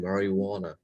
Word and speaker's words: marijuana: But it starts spelling with J, but also in marijuana, it's pronounced as JUAN. But why is one? It is because of it is a Spanish name. In Spanish name, you know, we don't pronounce J as J.